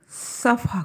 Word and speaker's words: صفح: کرو، عفو کرو اور صفح کرو۔ عنوان ہے صف اور عفو میں فرق۔ یہاں پہ صف کا کہ ہم تلفظ کریں، اس کے ہجے کریں، صاد فے اور ہے، حلوے والی ہے۔ صف اور عفو میں